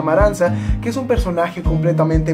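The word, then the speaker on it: Amarantha: por la reina amaranta que jon ley como amaranta pero al parecer se pronuncia maranza que es un personaje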